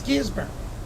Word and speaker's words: Gisburn: a day exactly uh I don't know if it's my accent or mispronouncing the name of the town but the uh locals were going like you're not in Australia and I said okay how do you say it it's gisburn gizman gburn so that was kind